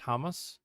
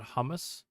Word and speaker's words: Hamas: Am I not pronouncing it as Hamas, not hummus? Or does that sound the same to you?